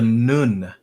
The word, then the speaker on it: Nun: All right, so we have what we call the Nun, and sometimes you said it's spelled NWN, and the W actually has a U sound in the Medu Neter.